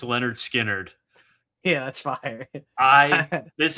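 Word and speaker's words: Lynyrd Skynyrd: My number two is pronounced Leonard Skinnerd.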